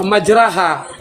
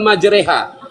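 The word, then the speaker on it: مجراها: Jadi kalau dialektika Rasulullah majraha. Nah, sementara di Quran itu dituliskan majreha. Ini membuktikan bahwa inilah salah satu bukti ada dialek pengucapan yang berbeda.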